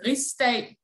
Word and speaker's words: Rigsdag: Und diese friedliche Besetzung wurden von dem damals genannten Reichstag, hieß es tatsächlich auch in Dänemark, wird aber Rigsdag ausgesprochen.